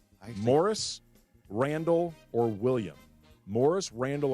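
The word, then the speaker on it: Morice: The American pronunciation tends to be Morris as opposed to Maurice.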